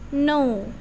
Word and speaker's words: know: Bukan keno ya, biasanya ini orang-orang, biasanya murid saya di SD ini kebanyakan bacanya keno. Tapi ini bacanya no.